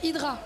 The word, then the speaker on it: Hydra: We don't say Hydra, we say Idra. Hedra. Yeah, exactly. Rolling the RS just like the French do.